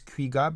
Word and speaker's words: 귀가: Because Kui, the first syllable means like to return, right? Kui, and then ka is home, right? Yes. So to return home is kuiga, but it's only used